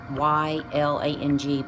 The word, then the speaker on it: ylang: It has the oils of tangerine, orange, ylang, which is spelled Y-L-A-N-G, but pronounced ylang, patchouli, German chamomile, vetiver, citrus, bergamot, cassia divana, and Northern Lights black spruce.